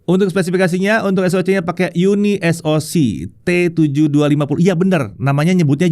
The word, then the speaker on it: Unisoc: So, it's Uni SOC, not UNISOC.